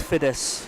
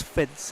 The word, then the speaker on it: Fiddis: I can tell you a story about Louise Fiddis' name, that we were pronouncing it wrong, and a guy came up and approached us saying it's Louise Fiddis, and we said no, British women have told us it's Fids, and he says I'm